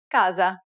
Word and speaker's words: casa: to a few examples little s can also take on a z sound when it appears between vowels casa finally whenever you have